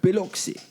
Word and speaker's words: Biloxi: I believe the word is Biloxi. Biloxi? Is that how you say it? Yes, Biloxi.